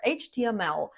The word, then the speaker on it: HTML: You pronounce it by saying each letter, HTML.